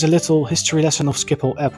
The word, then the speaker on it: Schiphol: airport in the Netherlands in English this is pronounced as skiple as in previous videos I do like to